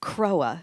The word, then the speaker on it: CROA: come to love it croa is how that's pronounced and it is the